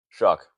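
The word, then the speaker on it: Shough: Shuck. Oh, Tyler Shuck. So I'll give the Saints another guy whose name is not pronounced the way it looks like it should be.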